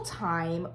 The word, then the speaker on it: Thyme: think tinsel time obviously time is spelled like the herb not like t-i-m-e which is signaling to